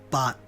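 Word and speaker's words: 八: the word eight it's bot spelled baat two A's means pronounce it longer and with the bigger mouth bought instead of but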